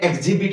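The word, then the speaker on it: exhibit: রাখিবার আছি তো ই এক্স প্লাস এইচ যদিও আছি এটা সাইড মানে লেটার কোন সাইলেন্ট হয়ে age become silent for example adjust in এক্সিবিট অর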